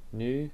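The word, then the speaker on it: ν: new which is frequency which is here pronounce new which is frequency why didn't they do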